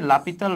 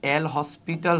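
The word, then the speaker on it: L'Hôpital: করতে পারি রুলসটা হচ্ছে লাপিতাল রুল লাপিতাল রুল কে লিখা হয় এল হসপিটাল রুল আর কি বুঝছো উচ্চারণটা হচ্ছে লাপিতাল সো এই এল হসপিটাল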